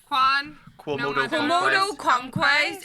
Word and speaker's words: Quomodocunquize: Quomodocunquize. It sounds like anti-clockwise, only somebody who's had a stroke.